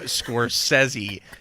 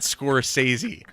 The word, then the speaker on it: Scorsese: Like, I want to know if there's on record him on video saying you pronounce my dumb name Scorsese, not Scorsese.